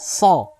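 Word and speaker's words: صاد: dalam mengucapkan huruf-huruf so huruf so ini termasuk dalam huruf-huruf yang tebal istilah termasuk dalam tujuh huruf yang lebat so karena pengucapannya sebagaimana yang kita sampaikan pada sesi-sesi sebelumnya adalah dengan mengangkat pangkal lidah kita mengangkat pangkal lidah kita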